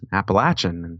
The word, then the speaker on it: Appalachian: was like Oh what do you call it Appalachian she's kind of looked at me like well